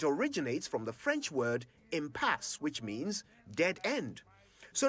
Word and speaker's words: impasse: for the day impasse i've heard people say empass ampas ampas but it's impasse it's not clear where these alternative pronunciations come from but there is only one correct way of saying it impasse i m p a